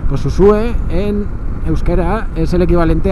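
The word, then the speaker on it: Uxue: pero con X, digamos, Usue es la pronunciación euskera, Ujué digamos que es la pronunciación en castellano. Pues Usue en euskera es el equivalente a paloma, al nombre de paloma en castellano.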